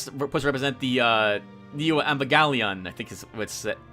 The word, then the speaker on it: Evangelion: Which is, I guess, supposed to represent the Neo Evangelion, I think is how it's said.